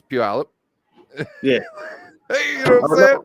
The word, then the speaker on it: Puyallup: Like we got Puyallup, but it's Puyallup.